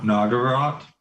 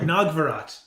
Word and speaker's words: Nagarat: i pronounce that right no nagarat not nagvarat yes there you go nog